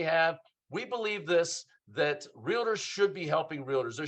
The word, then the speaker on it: Realtor: our real realtor lead I know I put an extra syllable in there don't don't make fun of me it's not real a tour it's realtor lead generation Mastermind and